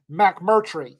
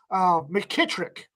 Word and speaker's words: McMurtry: It's pronounced exactly like it's spelled. Rita, she's on here somewhere, has a rant about the first time that somebody decided to mispronounce my name, because nobody ever gets it right, and they always put letters in my last name that aren't there. McKittrick. There's no K in McMurtry anywhere.